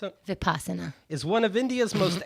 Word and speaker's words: Vipassana: Vipassana, how do you pronounce it? Vipassana.